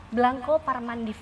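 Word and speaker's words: Blanco par Mandif: Restorannya salah satunya ada di Ubud, namanya Blanco Parmandif, bener nggak aku pronounce-nya?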